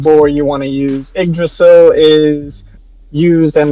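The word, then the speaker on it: Yggdrasil: It It's pronounced uh igdrasil. Uhdrasil, depending on what I don't know what boore you want to use. Idrasil is used in like Nordic mythology is kind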